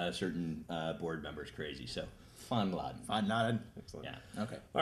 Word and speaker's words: Fanladen: We're still here at Fanladen. Is that a good pronunciation? No, that was awful. Fanladen. Yeah, it's German word that loosely translates as clubhouse, but you'll hear us refer to it lots of different ways.